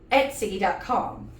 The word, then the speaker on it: Etsy: how to pronounce it I keep telling myself remember Etc you know like Etc like extra and you'll use that sound when you say it and so I have